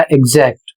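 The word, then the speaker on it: exact: एक्स दो vowels के बीच में आया है। दो स्वर के बीच में आया है। इसलिए ग और ज पढ़ा जाएगा। इसका उच्चारण हो जाएगा एग्जैक्ट।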